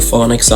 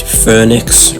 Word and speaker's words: Fønix: phonics my bad the phonics i'm actually going to be talking about is a new for 2022 vacoma wildcat at forup summerland in denmark and yeah i know it's pronounced phoenix or whatever but my dumb american